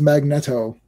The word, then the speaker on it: Magneto: Chris Claremont still says it's Magnetto. Oh yeah, Magneto.